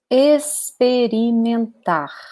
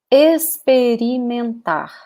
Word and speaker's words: experimentar: And you can also use the verb experimentar. So repeat, experimentar. Okay? So notice that this X here sounds like an S.